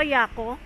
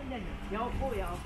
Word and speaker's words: Yaoko: Pronunciation ko, Yako? Yoko. Yan. Hindi, Yoko.